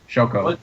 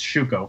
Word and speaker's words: shuko: do you pronounce that shoko shoko you miss wait no no we're we're in blue it's shuko because there's actually is a character named shoko and yellow and this one's shuko shuko yeah Miss pretend pretend